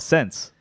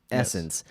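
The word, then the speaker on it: SSENSE: but if again s it's two s's s-s-e-n-s-e essence and uh and we're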